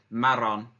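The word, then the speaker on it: marrón: the errors are so you got to roll your tongue a little bit Marin Marin muy bien also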